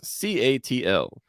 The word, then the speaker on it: CATL: viewers stan stan says c-a-t-l which if you pronounce it it would be cattle yes so c-a-t-l is